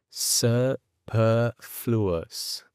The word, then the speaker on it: superfluous: En inglés vamos a decir superfluous, superfluous, superfluous. La E, que al principio yo estaba haciendo más cerrada, después la he abierto para que notéis la diferencia.